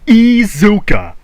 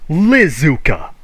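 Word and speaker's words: Iizuka: short bus riding liars this guy's name is takashi izuka his name is not lizuka you people may not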